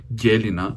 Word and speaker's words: Гелина: На второ място казах, че ми е авторът на авторът разказът на Васил Попов и това е Гелина, защото мисля, че така трябва да е ударението.